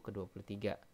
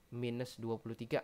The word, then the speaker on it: ke-23: Ini bacanya ke-23, bukan minus 23, bukan gitu ya, atau negatif 23, bukan. Tapi emang penulisannya seperti ini, ke strip 23.